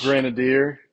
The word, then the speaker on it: Grenadier: One is the purple, and I'm gonna say its name wrong, Granada or Grenadier finch. Grenadier. Grenadier. Grenadier. There you go.